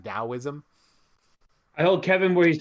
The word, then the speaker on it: Taoism: tower of schwarzenegger yeah it's pronounced with the d last i checked even though it's the letter t it's like taoism i told kevin where